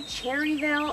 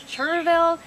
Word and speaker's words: Cherryville: Some say Cherryville, others Cherville.